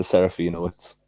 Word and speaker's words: Serafinowicz: How do you pronounce the actor's last name? I don't want to butcher it. Pete? Peter Serafinowicz.